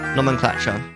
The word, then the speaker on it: nomenclature: Nomin, like you eating a lot, and clatter, nomenclature.